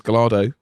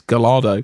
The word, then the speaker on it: Gallardo: But he pronounces Gallardo as we do. He says Gallardo. He says Gallardo.